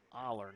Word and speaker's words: Aller: Aller, not Oiler.